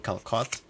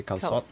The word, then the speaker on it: calçot: Apparently that way just to signify that you pronounce the C soft instead of hard. So instead of saying calcot, you'd say calçot Calçot.